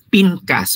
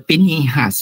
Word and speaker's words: Pinhas: morning is all about Pinas or pinhas in some of the pronunciation mga kapatid no so